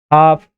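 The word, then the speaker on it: half: एल में देखिए तो काम, टाक, वॉक, हाफ, कहीं भी एल का उच्चारण किया जा रहा है क्या, नहीं, क्योंकि ये साइलेंट है।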